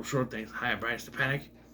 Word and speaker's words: Stepanek: That's Stepanek. It's so annoying. It's so annoying when you know how something is pronounced and they say it wrong. Like, I've seen videos people call him Brian Stepanek. It's Stepanek. He even says it in interviews. I'm Brian Stepanek.